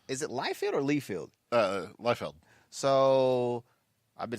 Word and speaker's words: Liefeld: Liefeld.